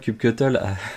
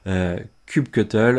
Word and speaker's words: kubectl: Kubectl have several ways of pronouncing way. For example, we can pronounce kubectl or kubectl or kubeclient, but this is the same things like a Python library or Golang that can do.